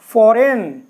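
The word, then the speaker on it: foreign: अब देखते हैं देखें जब जी एन से पहले आता है तो जी साइलेंट होता है या चिन्ह इसी तरीके से फॉरेन और फॉरेन में क्या है जी बिल्कुल साइलेंट है जी की जरूर नहीं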